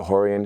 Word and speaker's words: Rorion: And then my father is Rorion Gracie, they pronounce it Rorion.